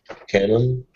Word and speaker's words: Canon: Canon. It sounds like a brand of cameras. Canon. No, Canon has one N in the middle. I know, but how to pronounce it? Pronunciation is the same, Canon, yeah?